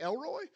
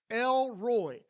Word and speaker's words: El Roi: you're GNA be like did he just say Elroy yes I did but that's literally how the name is pronounced lroy but what it means is the god who